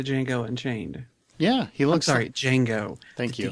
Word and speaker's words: Django: Django. Thank you. D is silent. The D is silent.